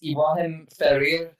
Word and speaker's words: Ibrahim Ferrer: It's Ibrahim Ferrer.